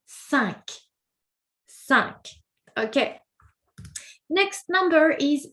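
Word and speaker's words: cinq: Number five is sank. Sanka sank. So weird because for that particular number we actually must pronounce the last letter.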